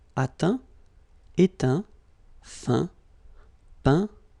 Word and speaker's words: peint: Okay, as usual, final T not pronounced. Atteint, éteint. Fin, peint, teint.